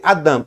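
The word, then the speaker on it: אדם: É assim que escreve Adam e se lê Adam. O alif ele é uma letra muda, tá?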